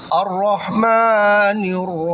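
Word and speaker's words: الرحمن: এরপরে দ্বিতীয় আয়াত আর রহমানির রাহিম আর রহমান এখানে মিমের উপরে মিম টান হবে এক আলিফ আর রহমানির রাহিম মিমের ভিতরে এখানে এক আলিফ হবে খারা জবর আছে খারা জবর থাকার কারণে মিমের ভিতরে এক আলিফ এখানে টান হবে আর রহমানির নুন গিয়া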